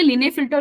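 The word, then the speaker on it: Klinefelter: नाउ लिने फिल्ट syndrome यहां पे लीने फिल्टर भी आप बुला सकते हो क्लीने भी बुला सकते हो एक्चुअली के यहां पे साइलेंट है ठीक है तो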